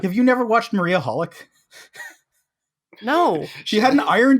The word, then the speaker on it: xxxHolic: hol I see yes it's pronounced holic hello I'm Josh and